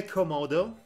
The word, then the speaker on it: Komodo: interrupts the Komodo dragons path you know say Komodo come out oh okay because you've been saying